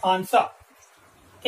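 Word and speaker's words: answer: एस डब्ल्यू ई आर, तो यहां पर आप देख रहे हैं डब्ल्यू जो है वो साइलेंट है, यहां पर आंसर यहां ए एन एस और फिर डब्ल्यू ई आर, तो यहां ए एन एस और ई आर से ही आंसर बन जाता है, यहां पर डब्ल्यू का हम उच्चारण नहीं करते हैं।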